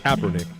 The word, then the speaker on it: Kaepernick: that's not too bad it's not copper but it's Kaepernick Kaepernick this is the sports